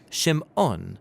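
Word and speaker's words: שמעון: So when Leah who wasn't loved by her husband Jacob, she has a son and she names him Simon or in Hebrew Shimon because she says the Lord has shamad that I am unloved.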